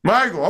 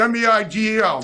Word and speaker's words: Migael: Migael, okay. It's spelled m i g a e l, but it's pronounced Migael.